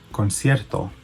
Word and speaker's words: concierto: Concierto. Concierto. And it's spelled C-O-N-C-I-E-R-T-O.